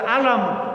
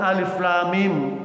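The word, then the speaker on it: الم: Padahal cuma ngajarkan satu ayat tentang jangan baca alam, bacanya alif lam mim gitu.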